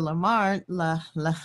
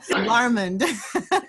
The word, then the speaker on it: Larmond: And we have Londa Larmond. I'm going to say it the French way. I'm sorry, Londa. Londa Larmond.